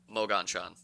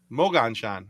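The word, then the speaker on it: Moganshan: that's just about right it's like Mogan Shan Mogan Shan okay so it's the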